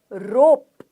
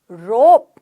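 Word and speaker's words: rope: केवल ओनली मतलब केवल रोप रोप रस्सी रोप रस्सी रुप नहीं है रोप रस्सी आईब्रो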